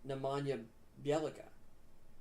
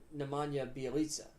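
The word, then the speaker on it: Nemanja Bjelica: really versatile team and they added nama or nemanja bialika or nemanja bialisa there we go that's how you say his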